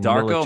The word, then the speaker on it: Darko: His first name rhymes with Larko. Last name Darko Milicic.